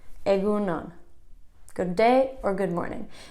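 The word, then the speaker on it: egun on: morning or good day that's a GU nun penguin on two words aigoo nun good day or good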